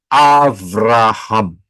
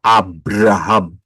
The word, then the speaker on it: Abraham: Abram, tetapi namamu akan menjadi Avraham atau Abraham. Sama saja, tergantung pengucapan.